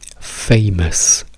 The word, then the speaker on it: famous: Famous dove abbiamo ehm la sillaba centata che è la prima, quindi fei e poi abbiamo Mess che è la seconda sillaba. E in questo caso vediamo che anche due due vocali insieme possono diventare una. Non diciamo fe famous, non diciamo fus, non diciamo fus, diciamo fe m mus m.